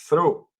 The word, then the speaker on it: through: Miren, la palabra though se pronuncia though, mientras que through se pronuncia through, que es a través.